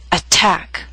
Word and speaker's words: attack: through these three examples attack is a word with two syllables stress is on the second attack so T although in the middle of the word is at the beginning of a stress syllable so we have a true t attack appetizer and secretary are